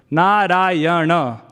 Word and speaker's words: Narayana: It is said that Gajendra called out Narayana, 4 syllables, Narayana.